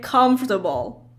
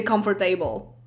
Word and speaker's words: comfortable: is actually pronounced table whenever you have table in another word as an ending you never say it like table like comfortable a lot of people say comfort table oh my god like